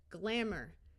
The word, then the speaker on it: glamour: Glamour, this EY will have the long E sound.